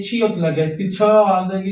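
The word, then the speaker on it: 칠: साथ में ये छी लग गया। इसकी छह आवाज़ आएगी इसकी। बन गया छी। नीचे रियल की लाम। तीसरी लाम। तीसरी आवाज लाम आई। बन गया छिल।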